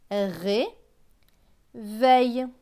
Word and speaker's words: réveille: E, I, L, L, E se prononce eille. Donc V et eille, veille. Donc ce mot va se lire ré, veille.